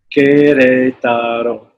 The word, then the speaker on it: Querétaro: Querétaro is spelled capital Q-U-E-R, E with an accent, T-A-R-O. Querétaro.